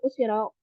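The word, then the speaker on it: 後ろ: Tapi kalau misalkan kanji ini di belakangnya ada tulisan ro, itu baru dibaca usi ro, usi ro gitu.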